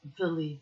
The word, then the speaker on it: Willie: Should be pronounced Villy then because I've just realized the other guy's name was Hunt. So they're both either Dutch or German.